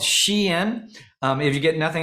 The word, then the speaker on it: Shein: out of this webinar I just taught you the proper way to pronounce shein um it's a a a shortening of the phrase she's inside or she's an Insider so it's an American